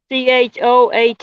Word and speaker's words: Choate: How do you say that? Cho Ati? Mm. C Choate. Choate.